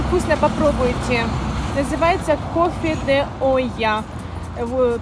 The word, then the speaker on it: olla: Называется кофе de Café de Olla, или я его называю Олькино кофе, а пишется Ойя через БЛ, как бы Оля. Ойя.